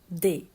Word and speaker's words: des: we use the they it's d s but we pronounce it they when we use a